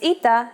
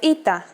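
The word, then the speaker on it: ήτα: complicated history of ITA at first it is generally believed to be pronounced like a long version of Epsilon and sounded like e after the Classical period however it sounds started to change and merged with Yota as did another letter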